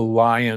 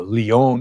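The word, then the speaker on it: Lyon: done in Europe was the ly heart diet trial. It's actually the Leon Heart Diet trial, but nobody can pronounce Leon.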